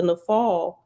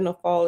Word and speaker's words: naphal: And after nafal is reference number 8. And down at the bottom it says the Hebrew word nafal means the fall, and it's spelled NAPHAL.